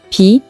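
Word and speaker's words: 비: Et à l'université, comme la lettre B se prononce comme pluie, pi, on plaisante en disant que la pluie annonce un B sur le relevé de notes.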